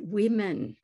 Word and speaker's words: women: one example of that woman and women see the a the sound in the second syllable actually affects the pronunciation of the first syllable from war to we